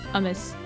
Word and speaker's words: hummus: So is it just with an aspirated H? It's more like hummus.